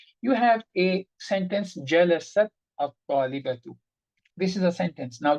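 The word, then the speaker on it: الطالبة: At-talibatu, we know this lam is also sukoon. Take jalasat out. How will you say? You will say al-talibatu, and you say at-talibatu.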